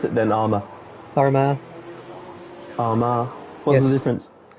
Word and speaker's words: Armagh: Well, how do you pronounce it then, Armour? Armagh.